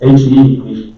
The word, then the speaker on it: He: It's called HE initialization. Chinese pronunciation is He initialization.